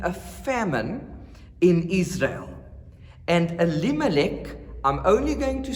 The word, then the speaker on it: Elimelech: I'm not going to twist my tongue every time saying that name that has 4 syllables. Okay, so perhaps one more time, and from then on, that guy, Elimelech, took his wife Naomi